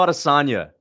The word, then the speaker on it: Adesanya: It's Israel Adesanya, okay? It's Adesanya. Get it right.